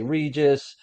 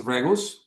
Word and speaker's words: Regus: We say Regis. South America. How do you say it, Benjamin? Regus? In Spanish is Regus, and yeah, Regus, and Regus, yeah, yes, yeah.